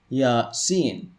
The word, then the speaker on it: Yasin: These are pronounced Yasin.